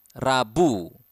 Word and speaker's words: Rabu: Selasa Selasa tues Rabu Rabu eh you need to pronounce The R clearly Rabu Wednesday we have